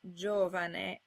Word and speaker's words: giovane: As with C, you can put a J in front of any vowel by putting a silent I in between. This gets you words like giovane.